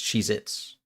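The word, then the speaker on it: Cheez-It: Yeah, but it's always pronounced like everyone pronounces it as multiple. Because you never just have one Cheez It. It's Cheez Its.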